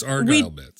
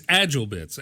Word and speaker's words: AgileBits: See, I'm mispronouncing everything today. Argyle. You all wear sweaters. It's Argyle Bits. We do, with a special print. It's true. It's Agilebits. And they make a product